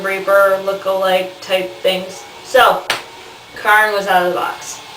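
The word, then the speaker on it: Charon: men whose name is Karen k sound not sh sound not CH sound though that I think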